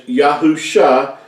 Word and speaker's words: Yahusha: scriptures and how we know that it is pronounced as yahusha and not all these other variations that you